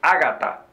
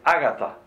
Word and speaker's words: Agatha: que son en inglés Hay que pronunciarlas en inglés Por ejemplo no es Agatha es Agatha en inglés porque ese nombre le